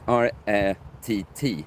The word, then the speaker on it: rätt: If we would put R-Ä-T, it would be rät. But if we put R-Ä-T-T, now it's rätt.